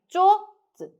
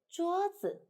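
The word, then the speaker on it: 桌子: Please don't do like this. 桌子, 桌子. No, it's okay, but here so wet, so we say 桌子, 桌子.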